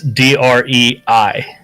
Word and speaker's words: Drei: And it's DREI, Dre.